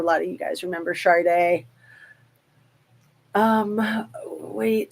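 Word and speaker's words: Sade: because it's like s a d but it's pronounced Sharde she's awesome she was a big star in the 90s I'm sure a lot of you guys remember Shard day um wait say whatever we want Mr Mark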